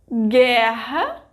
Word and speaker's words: guerra: Did you know that in those cases I didn't pronounce the vogal U? So, that's the rule. In general, when there is a syllable formed by gi, ge, ki, ke, the vogal U disappears phonetically.